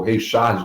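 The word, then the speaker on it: Ray Charles: sido de 1954 de Rey Charles ou Rey Charge, como a gente prefere pronunciar aqui. I've got a woman, baseado numa música de igreja, I've Got a Savior.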